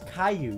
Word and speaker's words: Caillou: you don't know it's Caillou you don't it's not K you yeah but why there L's in his name no a Double L is pronounced like a y yeah well then kill